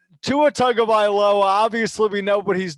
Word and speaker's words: Tagovailoa: Tua Tagovailoa, obviously we know what he's done in the big games.